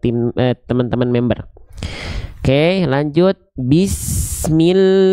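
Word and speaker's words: بسم الله: Perhatikan vokal i, jadi bukan ke samping. Bismillahi, enggak, tapi ke bawah. Bismillahi.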